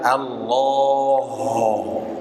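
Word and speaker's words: الله: suaranya yang dihasilkan tipis seperti lafaz Allah Allah bukan Allah l itu h-nya jadi tebal Pak Allah Oh harusnya Allah Senyumin Allah ah uh bukan oh uh tipiskan senyum Senyumin bukan monyong mulutnya ya Pak Allah ini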